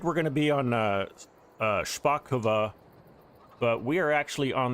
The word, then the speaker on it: Szpakowo: We're going to get on our Szpakowo, that's how you say it, Szpakowo map.